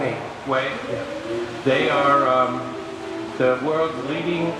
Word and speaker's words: Huawei: They've been doing some research on it, and her phone company, Huawei, I think that's how you pronounce it. Huawei.